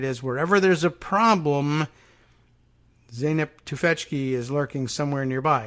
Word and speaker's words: Zeynep: silent until zeynep tufetsky oh look a pronunciation guide pronounced zainab yeah we got that to feck chi yeah all right excellent